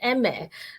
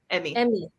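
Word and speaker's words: Chef Emme: So I mispronounced it as Emme, but okay. So M, right? Emmy. Emmy.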